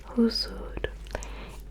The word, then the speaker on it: huzur: ou, du coup, huzur, le ou, ça s'écrit avec des U en fait. Il n'y a pas de point. Donc c'est un H, U, Z, U et R. Et ça se prononce huzur, huzur.